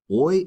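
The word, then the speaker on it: hoy: is oi. All right. To respond to that question, we would say oi is and which means today is. And remember the word the letter h in Spanish is silent.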